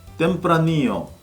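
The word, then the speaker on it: Tempranillo: 이 스페인 와인 용어에서 특히 발음에 주의해야 할 부분은 바로 LL 두 개가 겹치지는 경우인데요. 이 경우에는 야라고 발음이 되죠. 후미야, 템프라니오, 파레야다처럼 LL이 두 개 겹치지는 경우에는 Y로 발음을 하시면 됩니다.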